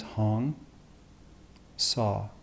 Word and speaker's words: Hong Sau: how to practice the hyung saw mantra and so the pronunciation is hone saw and the thing about